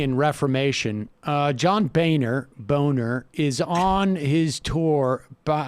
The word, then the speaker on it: Boehner: beau and then ner the h is silent right but he ha